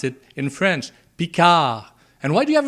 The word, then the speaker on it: Picard: the way it's pronounced pika not picard you don't pronounce the d at the end it's a french word you pronounce it in french pika and why do you